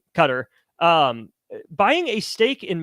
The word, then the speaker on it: Qatar: they call it um of Qatar Qatar I don't know exactly how you say it but that country thing is cutter cutter we'll go cutter um buying a stake